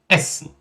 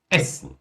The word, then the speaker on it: essen: Por exemplo, o nosso verbo comer, essen, essen, essen. Pronúncia curta, por isso que eu falo que é palminha, essen.